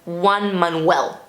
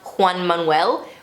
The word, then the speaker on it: Juan Manuel: repeated many times and every time lauren ambrose would pronounce his name as juan manuel as if it's one manuel and not juan manuel which is how you know latinx people would pronounce the name i don't think it's